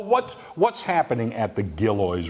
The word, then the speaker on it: Gillioz: clear this up right now I hear it pronounced two ways gilroys org alloys you're the authority here how is